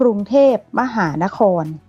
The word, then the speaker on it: กรุงเทพฯ: มี ไป ยาล น้อย ย่อ มา จาก คำ ว่า กรุงเทพฯ ซึ่ง เวลา อ่าน ก็ จะ ต้อง อ่าน ว่า กรุงเทพมหานคร ขอ อนุ ก็ คล้าย